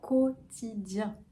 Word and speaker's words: quotidien: Ensuite, on a quotidien, quotidien. Peut-être que la difficulté ici, c'est la voyelle nasale, après le i, un, donc i1, comme chien, ou la main. Mais on a le i juste avant.